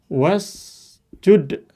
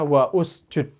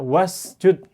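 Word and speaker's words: وَاسْجُدْ: Tapi kalau kita tambah misalnya was langsung jadi langsung ya wasjud jangan dibaca wa usjud jelas jangan baca wa usud tapi bacanya wasjud langsung anda baca lompat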